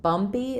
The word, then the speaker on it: bumpy: Um, so bumpy is stressed on the the bum syllable and it has the um the uh sound. So I wouldn't really change the spelling. I'll write it with uh um in bumpy b. This p is unaspirated.